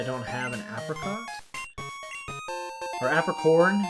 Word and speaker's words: Apricorn: I forget if I have to leave or he just can tell I don't have an apricot or apricorn.